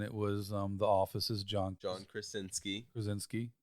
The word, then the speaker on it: Krasinski: Reed Richards, and it was The Office's John Krasinski. There you go. I was going to say it wrong, so you had to say it first. Well, I mean, it's Polish.